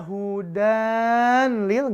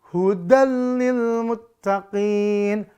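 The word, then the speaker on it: هُدًى لِلْمُتَّقِينَ: nih ya ini lam maka dibacanya enggak boleh dibaca Hudan Lil enggak boleh atau bacanya hudallil enggak boleh Idam bila guna lebur tanpa dengung annya lebur kelam tanpa dengung kita baca baca hudallil Muttaqin hudallil Muttaqin ya begitu cara bacanya Ya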